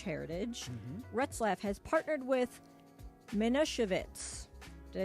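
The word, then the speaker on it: Manischewitz: going you're killing it Passover right so yes Minit yeah minitz now well let's ask George let's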